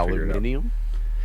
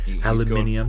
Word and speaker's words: aluminium: So I never knew that the difference between aluminum and aluminium other than just like a like a you know a country pronunciation. But the more I think about it, aluminium makes more sense because it fits in line better with the other metal elements because it's like gallium neodymium.